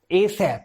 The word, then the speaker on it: ASAP: जैसे कि हमारे पास फर्स्ट एग्जांपल है ASAP, एसैप। इसे हम प्रोनाउंस कर रहा हूं तो कैसे प्रोनाउंस करेंगे, एसैप।